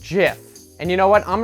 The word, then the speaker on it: GIF: There's no J in GIF. There's no reason to pronounce it like that.